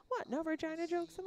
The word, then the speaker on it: Regina: Prince Albert Roller Derby League, Swift Current, and Pile of Bones Roller Derby, based out of Regina, Saskatchewan. Oh, in Regina, the word that rhymes with fun.